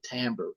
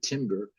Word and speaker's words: timbre: the pitch and the timbre and so see this word t-i-m-b-r and uh it's pronounced by musicians timbre and sometimes people say timber and but that's not